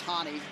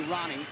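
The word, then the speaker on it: Rani: Well, before the pronunciation police goes crazy, I know you think it's Hani. He wants to be Ronnie.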